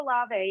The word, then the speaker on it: Olave: You got to go Olave. Yeah, you got to go Olave. Why don't more people just call him Olave? Oil of Olave. Yeah. That's how his family's name is pronounced.